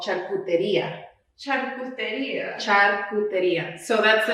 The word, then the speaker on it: Charcuteria: yeah yeah and in spanish it's actually called charcuteria so that's the name of my business actually